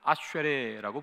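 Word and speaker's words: אשרי: 아셀 히브리어 원래 발음은 아쉐레라고 부릅니다.이 아쉐레라는이 단어는 구약 성경에 총 45번이 나옵니다.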